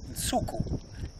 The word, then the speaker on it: Nsuku: And so Nsuku is how we say it, and that's the Xitsonga word, and it's spelt.